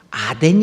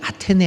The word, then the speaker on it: 아테네: 발음 들지 많이 있습니다 아덴 이라고 하는 것 이게 아테네 아닙니까 본래 말이 그때 그걸 아덴 이라고 씁니다 이거 일어 일본어 중국어 2 음에 그 영향을 받아서 그렇습니다 애굽이 라는 말 애굽이